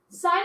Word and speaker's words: sin: so how you notate sine is just s-i-n it's not pronounced sin it's pronounced sine okay that's how you